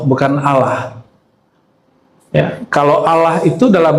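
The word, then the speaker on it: الله: Tapi antara a dan u itu Allah. Jadi cara baca Allahnya gimana? Bukan Allah. Allah. Jadi A tapi cenderung kepada U. A cenderung kepada U bukan Allah tapi Al Allah. Bacanya A tapi lidahnya ngarah ke U.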